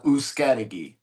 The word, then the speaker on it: Uzcategui: Pronounce your last name. Yeah, it's uh Uscadigi.